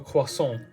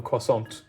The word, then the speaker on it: croissant: For example, it would be quite strange if you said, "Oh, can I please have a croissant?" instead of "Can I please have a croissant?" Even though in the French accent you say croissant.